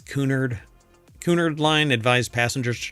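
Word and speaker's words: Cunard: I don't think it's pronounced Connor, right? It's Kunard.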